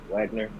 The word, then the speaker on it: Wagner: Von Wagner being released Wagner I pronounced it with a little German emphasis on it crazy they was using